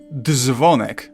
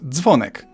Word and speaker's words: dzwonek: It's not dzwonek, but dzwonek.